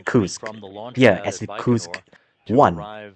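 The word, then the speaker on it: КУРС: Okay, and as you can see from the Siri leak yeah, it looks like it writes like KYPC, right? But in actually it's actually pronounced as Kursk.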